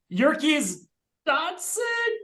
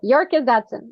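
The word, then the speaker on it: Yerkes-Dodson: Oh God, I won't mispronounce it again. Yerkes Dodson, Yerkes. Yeah. You got it. Yerkes Dodson.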